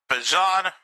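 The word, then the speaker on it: Bijan: I'm just now getting used to the name change of how I pronounce it. Bjan Robinson.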